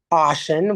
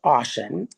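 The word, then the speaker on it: Ossian: Ashen, which is spelled O SS I A N. It's pronounced Ashen, Iowa, which is about 12 miles south of Dora in Winnick County.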